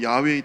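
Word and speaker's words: יהוה: 이게에 우리 한국말로 여호와지만은 히브리에 원래 발음으로 처면 야외입니다. 야외.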